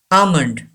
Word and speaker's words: almond: word okay number five almond yes an assignment don't pronounce L almond and a gives a long sound a key lamby Ava's